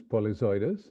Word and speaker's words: Polyzoides: butchered it pronunciation to polizoids and if there's any uh any catch way to remember how to pronounce your last name well uh the right pronunciation is polyzodous but the easiest way